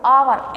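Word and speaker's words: hour: नहीं बोल सकते इसको आवर ए साइलेंट होता है ऑनेस्ट बोलते हैं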